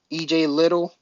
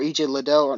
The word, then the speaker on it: Liddell: not a next person ej little or ej liddell depends how you want to pronounce his name um he's a pop